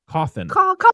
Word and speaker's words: Cawthon: But he Cawthon. Bitch. Like a coffin.